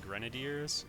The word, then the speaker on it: grenadier: hard time over saying Grenadier I understand some of you anglophones call them grenadiers as in rhymes with brigadier general or Loosely the end of it goes like Brigadier um it's a French